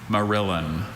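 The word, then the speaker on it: morillon: Merillin.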